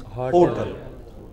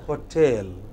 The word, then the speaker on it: hotel: Yeah, the wrong pronunciation is hotel. Correct pronunciation is hotel.